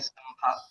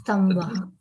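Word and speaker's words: स्तम्भ: Okay, there are many examples like Pala and Phala. I'm just briefly telling like that, and also Stamba and Stambha. These, Stambha. Okay. these mean Okay. a lot different when it is not pronounced correctly, and hence, so we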